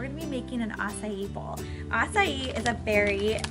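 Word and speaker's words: açaí: So I say acai bowl, that's apparently how you pronounce it.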